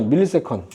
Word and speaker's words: ms: 자, 시간이 단위가 너무 짧게 일어나기 때문에 밀리세컨. 1000분의 1초. 이거 MS라고 읽으면 안 돼요. 알겠죠? MS가 아니라 밀리세컨, 1000분의 1초.